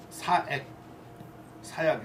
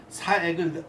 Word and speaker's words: 사액: 그 집안이 다 그 아들하고 다 집안이 그 왕이 사액을 내릴 정도로 사약이 아니라 발음을 또 잘해야지. 사액을 내려줄 정도로 그 집안을 그렇게 서화